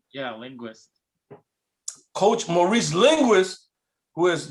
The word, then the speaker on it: Linguist: I raise my glass to Coach Harbaugh, but more to Coach, now I can't pronounce his last name, Linguist? Is that how you pronounce his name? Yeah, Linguist.